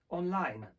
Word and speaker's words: online: Takim dobrym przykładem jest na przykład słowo online. Słowo online ma akcent na drugą sylabę w języku angielskim.